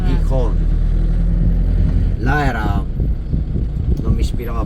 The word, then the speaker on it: Gijón: perché c'è l'accento, Gijón.